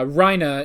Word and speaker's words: Reiner: i think you know we have uh rhina instead of how it's spelled which is reiner um but i i